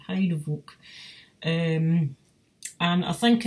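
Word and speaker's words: Heidevolk: exactly but it's it looks to me like heidi volk or heidi volk h e i d e v o l height hide-a-vote um and i think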